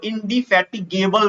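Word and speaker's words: indefatigable: काम करता है उसको इंडि फैट गबल बोलते हैं ध्यान से सुनिए इन फैट गबल है केबल नहीं है तो स्पेलिंग भी याद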